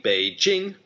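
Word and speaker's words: 北京: emperor renamed this city Beijing. Bei, the third tone, means north, and Jing, first tone, means capital.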